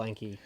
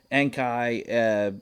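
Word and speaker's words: Enkei: A lot of Nissan's wheels are still Enki. Enkai, Rays. Yeah, however you want to Yeah.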